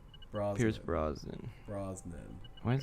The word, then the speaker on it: Brosnan: Pierce Brosnan or Bronson? Brosnan.